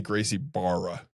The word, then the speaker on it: Gracie Barra: Definitely Gracie Barra. And you have to really pronounce it Bar.